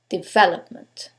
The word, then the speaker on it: development: Is it the second one, development? The third one, development? Or the last syllable, development? In this case, it's the second syllable, development.